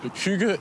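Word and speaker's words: hygge: explain or translate the word hug it's right pronunciation you try yeah H I've I've done it many times Huga is a sense of feeling at ease at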